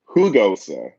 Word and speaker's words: Jagosa: So you pronounce it Hugosa. Okay, all right, I get it. So the J is like, yeah. Like, okay, I'm sorry. Okay, so like Julio, who H, like a who.